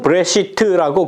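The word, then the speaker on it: בראשית: 이 발음은 브레시트라고 그렇게 이야기를 해요.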